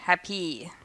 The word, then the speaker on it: happy: Do we say "HAPpy," "PERfect," and "HUNgry"? Or, do we say "hapPY," "perFECT," and "hunGRY"? "It's the first again." Right again! In two-syllable adjectives, just like two-syllable nouns, the first syllable is stressed.